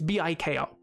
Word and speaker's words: Biko: Biko or Biko. It's Biko.